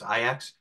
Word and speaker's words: Ajax: team that called Ajax it's spelled Ajax but it's ax and their I believe